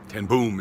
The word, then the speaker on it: ten Boom: a on ten bones they actually say it in Dutch but ten boom is how we pronounce in English about forgiveness and she